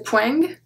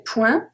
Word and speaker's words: point: le point, we don't say poing, we say point, but that does not include English words, such as smoking, camping, etc. So when the word comes from English and it ends with ing, we pronounce the G, but not point, because point doesn't come from English, okay?